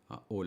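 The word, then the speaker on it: ʻaʻole: I should mention, by the way, the negator in Hawaiian is ole. 3 syllables.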